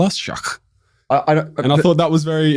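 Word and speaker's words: Sheikh: It's not shake. It's shach. And we asked the driver, what does that mean?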